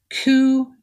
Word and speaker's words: Ku: podcast kitchen table cult coo and the gang ku is spelled k-u last pod on the